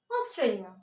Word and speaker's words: Australia: Okay, the letter A, the first letter is A, but you have to pronounce it Australia, Australia, and Austria, Austria, and Australia, Australia.